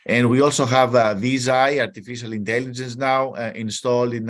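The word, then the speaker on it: Viz.ai: uh Google it visa that's how they call it visa how do you spell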